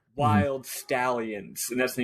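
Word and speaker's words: Wyld Stallyns: NS so to me that's wild stallins not wild read it as wild I was reading it as wild stalins but they do they do the bill Andor Comm band Bill and Ted do pronounce it wild stallions but yeah obviously I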